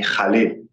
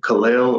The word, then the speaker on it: Khalil: from what I've heard, people who are fluent and speak Arabic call me Khalil. So I 1000%. don't speak Arabic, but from like hearing, people that's their native language say it, that's how they pronounce it. But here in America, people say Khalil or Khalil, or some of my family calls me Khalil. It's just, I guess it depends on your accent.